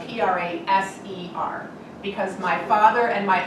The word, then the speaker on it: Praser: Because when they were in school, their teachers pronounced it Praxer, and they were trying to assimilate, and they wanted it pronounced Praser.